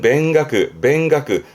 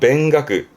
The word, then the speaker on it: 勉学: 학문에 힘쓰는 맹가크, 음은 맹이에요. 맹가크.